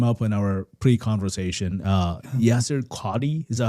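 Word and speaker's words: Yasir Qadhi: Uh Yasser Qadhi, is that how you say it? Yasser Qadhi.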